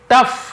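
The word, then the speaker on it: tough: टफ यानी कठिन, यहाँ पे भी देखिए जी साइलेंट है, टफ कठोर कठिन।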